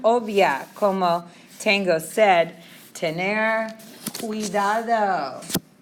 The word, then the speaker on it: cuidado: that S sound, ciudad, but this is pronounced with like a K sound. Cuidado. Cuando viajo.